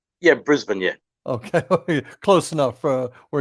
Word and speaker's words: Brisbane: Is that properly pronounced? Yeah, Brisbane, yeah.